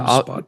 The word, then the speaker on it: Obsbot: And how do you pronounce the company's name? Obsbot, is that right? I believe that's it. Yeah. Obsbot, yes.